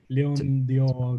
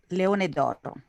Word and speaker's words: Leone d'Oro: Leon d'Oro Golden Lion. Is that correct, Miriam? It's Leone d'Oro.